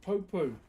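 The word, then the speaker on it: pou: So in our culture, brother, we have these things called popo. P O U. P O U is how you spell it.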